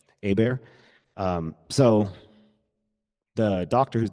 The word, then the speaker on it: Hebert: My last my name is spelled H E B E R T, but it's pronounced Abear. Abear.